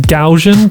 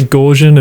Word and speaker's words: Gaussian: I think it's meant to be pronounced Gaussian, but I always say Gaussian and people have a go at me.